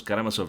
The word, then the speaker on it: Karamazov: How the fuck do you pronounce that? Karamazov, the brothers Karamazov.